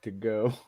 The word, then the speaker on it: Togo: owens chris bae dick togo dick togo who can forget dick togo i almost said dick to go because that's how it's spelled if togo shows up at